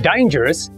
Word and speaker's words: dangerous: The word dangerous is an adjective with three syllables. We must put stress on the first syllable.